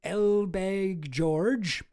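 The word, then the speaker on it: Elbegdorj: 1 month after leaving his post as Israel's defense minister, Ehud Barak visited Mongolia to meet President Sakyagan Elbeg George.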